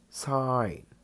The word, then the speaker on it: sign: Spaceman clothes for Spaceman sign sign letter g is silent it means note or